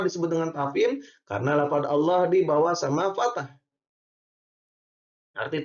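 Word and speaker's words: الله: Ini namanya adalah tafhim. Kenapa bisa disebut dengan tafhim? Karena lafaz Allah di bawah sama fathah. Allah. Arti tafhim itu adalah tebal. Ya, jadi bacanya itu tembal kandel.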